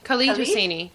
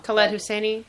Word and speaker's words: Khaled Hosseini: Khalid Hosseini. Khalid Hosseini. I could be wrong. Khaled Hosseini. I always said Khaled. Anyways, white pronunciation.